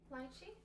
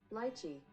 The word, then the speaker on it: lychee: Lychee? Lychee. Lychee. That's the British pronunciation. Let's hear it in American. Lychee.